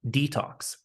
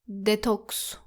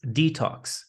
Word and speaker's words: detox: Now, be careful with the e in the word detox. It shouldn't be said like detox. It's detox. Detox. The sound is similar in the words redo or retake.